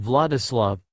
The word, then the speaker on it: Wladislaw: You, Kakashi, will be under the name Wladislaw, pronounced Vladislav, Ragamzi.